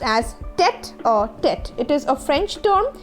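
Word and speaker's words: tête-à-tête: This particular word is pronounced as tete-a-tete.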